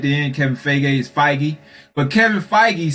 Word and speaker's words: Feige: don't know why i keep saying a man name wrong at the end kevin feige is fighty but kevin feige said that it's not going